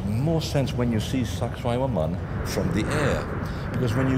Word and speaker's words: Sacsayhuaman: The connection here at Sacsayhuaman, or sexy woman if you can't pronounce it, Sacsayhuaman actually means the place of